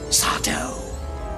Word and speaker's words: Sardo: They call me Sardo. No mister, accent on the do.